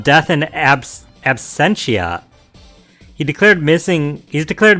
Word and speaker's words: Absentia: like Latin or something Absentia yeah absent it's the same R I know what it would mean I just I don't know how to say it I'm assuming it's Latin yeah it's Absentia Absentia I'll use that